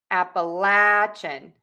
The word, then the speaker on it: Appalachian: Appalachian.